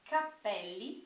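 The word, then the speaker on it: cappelli: quer dizer chapéus tá percebam como a diferença na ênfase da pronúncia muda totalmente o significado então Capele quer dizer cabelo e Capelli quer dizer chapéus ok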